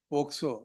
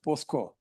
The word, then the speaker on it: POCSO: Quite often your lordship would say, listen until you say POCSO, not as POSCO. Telugu. Pronounce it properly, well, and therefore your lordship will continue to hear me. Generally it is done that way. I keep correcting. No, it's POCSO. ಪೋಸ್ಕೊಳ್ಳೋದಲ್ಲ. May I request your lordship